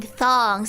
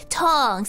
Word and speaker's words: tongs: Tongs. I gave up. Every time I talk about that, it's just gonna be ongs with a T. I gave up. Ongs with a T, not a TH.